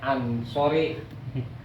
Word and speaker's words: Ansori: Padang Eh batakang Batak Ansori cumananya pengucapan doang inisori harusnya Ansori nasor ansor kaum ansor tu